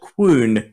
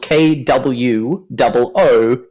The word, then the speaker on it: Kwoon: And it's by a band called Kwoon, and that's spelled KWOON. So KW and then 2 O's and then N. Kwoon. Kwoon.